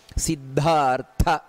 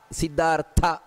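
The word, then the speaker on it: ಸಿದ್ಧಾರ್ಥ: ಚು ಅನ್ನೋದು ಮಹಾಪ್ರಾಣ ಗಮನಿಸಬೇಕಾದದ್ದು ನಂತರ ಸಿದ್ದಾರ್ಥ ನೋಡಿ ದ ಅನ್ನುವುದು ಮಹಾಪ್ರಾಣ ಅಲ್ಲಿ ಥ ಸಿದ್ದಾರ್ಥ ಅದು ಕೂಡ ಮಹಾಪ್ರಾಣ ಸಿದ್ದಾರ್ಥ ಸಿದ್ಧ ಸಂಕಲ್ಪಹ ನೋಡಿ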